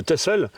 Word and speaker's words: Texel: Donc ils sont partis en Hollande chercher des vaches laitières et puis arrivés là-bas, ils ont vu cette île de Texel, qu'on prononce Texel là-bas.